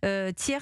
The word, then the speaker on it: Ti3rs: Tiers, ça s'écrit TI3. RS, c'est une application.